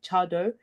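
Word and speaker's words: Tse Addo: the right hand side the one that's spelled TS e a d d o chado is I know the pronunciation doesn't quite match up to how it's said but has how it's written that is now kind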